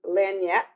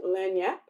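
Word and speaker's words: lagniappe: And Legnepi, uh, pronounced Lanyap. Okay, Lanyap.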